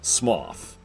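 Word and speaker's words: Smough: but it's definitely either it's either pronounced like the word though or it's pronounced like the word cough one of the two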